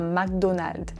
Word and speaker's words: McDonald's: En français, on dit un McDonald's, McDonald's.